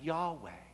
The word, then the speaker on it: YHWH: Of course, we don't know exactly how to pronounce this word, but we pronounce it Yahweh, the name of God.